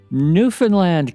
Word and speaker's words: Newfoundland: I'd like to welcome to the show today Raylynn White, coming to us from, oh my gosh, Newfoundland, Canada.